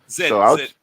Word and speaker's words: Zed: It seems like I've always Like the way British say the letter Z, Z. Vic. Okay. Zed.